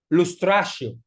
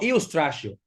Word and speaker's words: lustratio: Se pronuncia lustratio, no, iustratio, porque es una I mayúscula. Iustratio o iustratio, si tú lo quieres leer literalmente.